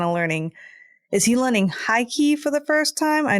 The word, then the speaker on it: Haki: Is he learning Haki for the first time? I know Rayleigh taught him a lot. It's pronounced hockey.